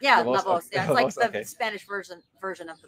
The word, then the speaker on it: La Voz: Am I pronouncing it correct? Yeah, Lavoz.